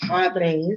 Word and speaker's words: Padres: Now, Padres, you gotta roll your R's. Got roll your Padres.